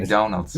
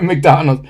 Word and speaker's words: McDonald's: Pero McDonald's no se pronuncia así en inglés. McDonald's. McDonald's.